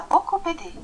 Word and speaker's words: beaucoup aidé: شوف في كلمة بوكو هنا، المفروض ان احنا مش بننطق حرف البي، ولكن احنا عملنا توصيل مع حرف الأ فأصبحت بوكو بدي. بوكو بدي تمام، يعني it was a great help، كان هذا مساعدة كبيرة.